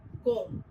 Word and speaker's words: comb: B, which remains silent in the word comb.